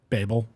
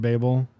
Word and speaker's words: Babel: Yeah, because so I always thought that it was in reference to the Tower of Babel, Yeah. which is like the traditional way that it's pronounced. I think that's like the more like, I don't know if it's the more British way or whatever, but the author, RF Kuang, she pronounces it Babel.